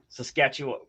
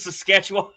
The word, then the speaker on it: Saskatchewan: It's Saskatchewan. Yeah, that's right. This is Saskatchewan.